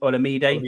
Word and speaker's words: Olamide: I can't pronounce his first name. I think it's Olamide. Olamide.